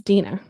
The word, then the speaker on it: Dina: I think I said Dina or Dana before, but it's Dina. Dina, just want to make sure I say her name correctly.